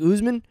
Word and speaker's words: Usman: Like, it's kind of like you're throwing the A before the U in Usman, you know? Like, Usman.